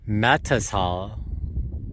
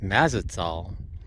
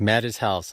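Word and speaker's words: Mazatzal: from what i hear it's pronounced mata's hall by locals but the national forest service calls it mazetzal and there's like different inflections you can call it so everyone comment away how you pronounce it and if you google it there's a million different ways but the local uh pronunciation is like maddest house like matt hazal met mountains that's where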